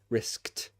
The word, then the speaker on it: risked: this risk it's unvoiced if it's unvoiced that will sound like a t risked um the same with